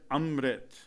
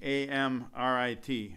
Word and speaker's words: amrit: after the ah sound which means you have to vibrate it up in the nasal conch and these shepherds work